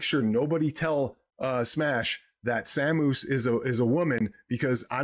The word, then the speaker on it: Samus: Her name is Samus. Samus. Like the word Saturn, it's Samus, right?